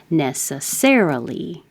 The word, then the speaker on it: necessarily: The stress is on the first syllable if it's an adjective, and it's on the third syllable if it's an adverb. Necessarily. Necessarily. Tufts is a university.